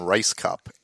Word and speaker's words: Rajskub: years ago Sarah Silverman introduced her as Marilyn Rice cup and I went got it like the actually I just assumed I'm so right I'm so dumb that that's how it's actually pronounced regardless of the spell yes yes I'm talking